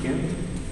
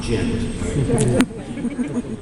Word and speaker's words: Ghent: Is that pronounced Ghent? Yes. Yeah. Not Gent.